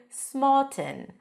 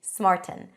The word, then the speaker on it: smarten: smart a nasal T you block the air and you release Air through the nose smarten and some people might pronounce it with a glottal stop smarten smarten smarten yourselves up you